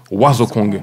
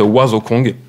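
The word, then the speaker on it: Wazokong: Et là, il nous a sorti, il y a 2 ans, un ouvrage magique qui s'appelle Oiseau Kong. Alors, ça s'écrit W-A-Z-O-K-O-N-G.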